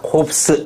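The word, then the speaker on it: corpse: 때 둘 다를 붙인다 요거 발음 한번 해보자 뭐다 응 어 스 어느거다 콥스 S 발음해야 된다 2까지 있으니까 그래서 콥스 뭐다 시체 자 어 S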